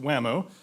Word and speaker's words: WAMO: For at least the past 7 years, we have partnered with the Water Management Association of Ohio, pronounced WAMO, an acronym form, and their affiliated Terraqua student